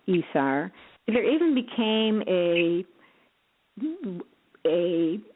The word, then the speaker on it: ESR: so this one is called esr which is pronounced esar there even became a